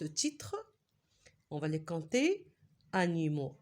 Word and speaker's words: animaux: titre répéter après moi il y a le X mais on le prononce pas bien sûr parce que c'est le pluriel c'est quoi le singulier à votre avis animaux c'est beaucoup lorsqu'il s'agit